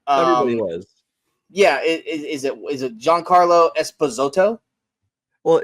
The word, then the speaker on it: Giancarlo: Yeah, is it Giancarlo Esposito? Well, it's you always said Juan Carlo. It's Giancarlo. Giancarlo.